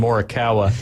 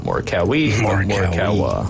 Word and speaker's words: Morikawa: Not Morikawa. Morikawa. Pretty easy to pronounce. It sounds just like it sounds.